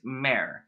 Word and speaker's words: Mare: Sloan, my name is Mare, pronounced like pear.